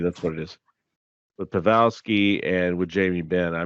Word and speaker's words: Pavelski: with Joel Pik and uh which I completely butchered his name p pavi that's what it is with pavelski and with Jamie Ben I mean the way